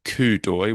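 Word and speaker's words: coup d'œil: also this idea of kudoi which is this it's it's not spelled that way. This is a very funny pronunciation term, right? Yeah, it's a French term.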